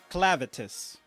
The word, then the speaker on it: Clevatess: Clevatess. Yeah, that's how you pronounce it.